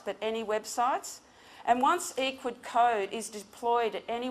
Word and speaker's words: Ecwid: a a Cloud solution it's um equid is pronounced equid short short for e-commerce widgets um and by